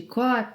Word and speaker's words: cor: Nas expressões que acabamos de ver, temos a palavra cor, com O aberto. Cor, aprender de cor, saber de cor e não cor.